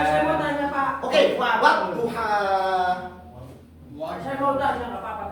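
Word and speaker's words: والضحى: Berarti harusnya wal duha itu. Wadduha.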